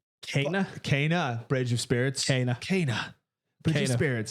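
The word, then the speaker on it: Kena: the pronunciation of this is it kenya it's not kenya because that's the country in this first start kenny uh kana bridge of spirits cana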